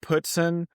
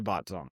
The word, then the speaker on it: Botzong: It's pronounced Putson and it's spelled with a B and so it doesn't make a lot of sense and so you're not you're not alone. Most people most people say botzone.